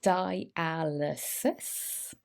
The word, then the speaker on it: dialysis: Well, it is pronounced dialysis.